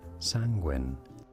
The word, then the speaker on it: Sanguine: you say it correctly the pronunciation of this word in British English it is said as sanguin sanguin all right is sangin